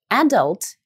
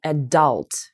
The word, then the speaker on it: adult: Кстати говоря, хочу здесь тоже отметить по произношению, вы можете произносить adult и adult, так же, как adulthood или adulthood. Никакой разницы нету. Как нравится, так и произносите. Оба варианта произношения вполне себе существуют.